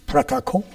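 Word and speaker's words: протокол: has in English, and it's pronounced a little differently. It's protokol.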